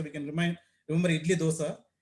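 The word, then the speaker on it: Doose: disappointing the other seizure type is called uh Dosa syndrome it's not do it's pronounced as DOA we can REM remember idly Dosa it's slightly at a later age two to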